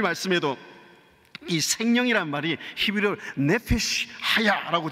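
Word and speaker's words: חַיָּה: 때 주제이기도 한 아 히브리어로 하야라는 말이이 중간 발음입니다. 하야라고 발음 좀 틀리고 카야라는 말하면 중간쯤 하야 따라합시다.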